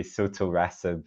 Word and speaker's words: sotorasib: Where we are, maybe I'll start in what we call it, because I am pronouncing it differently, I think, to our American colleagues who say sotorasib and adagrasib, but those are very hard inflections.